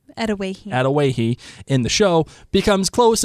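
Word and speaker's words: Adawehi: By the way, I checked that out, how to pronounce it. It's Atawahi. Atawahi in the show becomes close as they share knowledge of treatments and herbal info.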